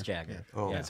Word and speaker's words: Jagger: I call him Jaeger. I thought the J is silent. It is Jaeger, right? It is Jagger.